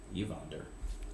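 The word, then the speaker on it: Ivahnder: the preferences i walk downstairs that is e-v-o-n-d-r evonder oh how did you spell it i-v-a-h-n-d-e-r you can probably guess that that's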